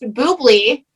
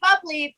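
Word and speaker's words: bubly: so yeah we found out recently that it's pronounced boobly yeah bubbly because we're not i thought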